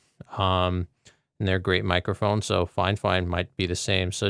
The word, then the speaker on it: FIFINE: We'll see if FineFine makes a quality product. I had to ask them how the name was pronounced because I thought it was FinFine, but it's FineFine is how they pronounce it.